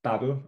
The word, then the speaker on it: Babel: tools out there are a tool called battle or babel depending on how you want to pronounce it the babel tool will